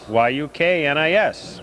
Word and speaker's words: Yuknis: Yuknis. Pronounced like cook this.